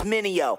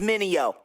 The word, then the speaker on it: Mineo: Tryna say my name, it's Mineo. Say it with me, Mineo.